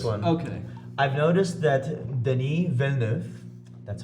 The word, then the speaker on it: Denis Villeneuve: I've noticed that Denis Villeneuve, that's how you pronounce it.